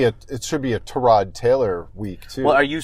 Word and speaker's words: Tyrod: gonna default back to tie rod yeah and it's if you didn't if you didn't hear apparently Joel Buitoni Oh revealed that Tyrod Taylor's name is meant to be pronounced to rod but he's never corrected